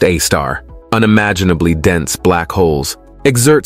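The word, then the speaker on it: Sagittarius A*: The Milky Way's central black hole is known as Sagittarius A, pronounced A-star.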